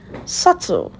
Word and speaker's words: subtle: The B is silent. So you say subtle.